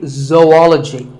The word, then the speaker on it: zoology: If you said zoology, it's actually wrong. That is a very common mispronunciation. This is actually zoology. Zo and ology.